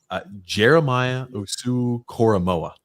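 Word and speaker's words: Jeremiah Owusu-Koramoah: are hideous it's is horrible oh my goodness Jeremiah USU koroa that is how you pronounce his name I knew it messed it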